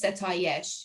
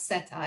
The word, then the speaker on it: Setayesh: But anyways, in Farsi, if I wanted to introduce myself, first of all, my first name is Setayesh. It's not Seta, it's Setayesh, but I made it easier.